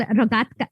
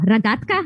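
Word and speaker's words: рогатка: It's called rogatka. No, ragatka.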